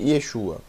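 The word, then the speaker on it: ישוע: Shu a yesu A então o tsere é exatamente assim no nome Yeshua como também no nome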